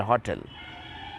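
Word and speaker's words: hotel: होटल होता तो एन हो जाता लेकिन इसका उच्चारण होटल एच ओटी एल होटल ठीक है तो क्या होगा इनकरेक्ट में एन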